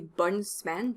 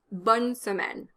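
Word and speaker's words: bonne semaine: drop the uh in smen you can't say bunsmen because that gives you three consonants in a row and that doesn't work in spoken french bonsamen bonsamen here you can drop the uh after the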